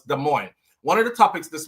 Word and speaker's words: Des Moines: So one person says, damn, that's not how you pronounce it. You're butchering the word. After that, it's like every comment after that was, why is he saying the word like that? Some areas, all of them there. I'm sure it still has some more over there. So we know it now. It's Des Moines.